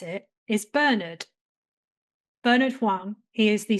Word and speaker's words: Bernard: It's pronounced Bernard.